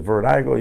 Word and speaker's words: Virdiko: So people are like, man, they don't know how to pronounce it. It's Virdiko, you know. So anyway, but it stands for virtual, VIR, distribution, DI, because we are distributing music, and then company. I spelled it with a K for Kevin, and then